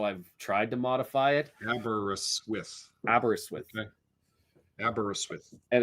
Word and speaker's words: Aberystwyth: So, Sean, it appears we also have to learn how to say Aberystwyth, because he's saying there's four syllables, and we're doing 2 or 3. Aberystwyth.